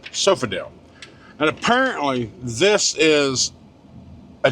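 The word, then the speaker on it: Sofidel: It's Sofodel. s o f i d e l sofale and apparently this is a GP cuz the drop lot's called uh GPville dropy yard.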